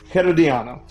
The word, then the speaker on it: Herediano: And first off, am I saying it right? Herediano. All right, yeah, you got to roll the R.